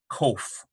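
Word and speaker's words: קוף: And I like how they transliterate in this text. It's more of a Q sound. Other texts you'll notice, like the Kelly text, has a hard K. It doesn't distinguish this, but it does in this text, and this is good. It's more of a Q, kof.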